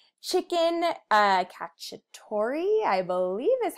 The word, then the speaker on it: cacciatore: coconut curry shrimp soup sounds delicious right chicken cacciatore I believe is how you say it garlic